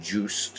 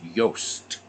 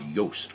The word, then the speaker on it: Yost: heard people pronounce it Juiced and Jost so it's a Dutch name and it's pronounced Yost it's actually pronounced yoast when you have two vowels in Dutch it's a long o so it's Eddie Yost